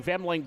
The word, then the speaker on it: Femling: I'm pronouncing it right. Femling? Yep. Okay. You're one of The L is on the right spot. Yes. Everybody pronounces it Fleming, but not. You're spot on, though. You're getting the Femling.